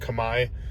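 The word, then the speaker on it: Khmer: community go talk to people go learn some Kamai which is their their uh their language there it's called Kamai it's spelled CH like KH h m e r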